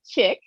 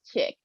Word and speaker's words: Chic: It's pronounced chic. And I said, "Well, in French, maybe it is, but here it's chick."